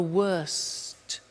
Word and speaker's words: worst: Notice the T. Bad, worse, the worst. Don't forget to pronounce the T.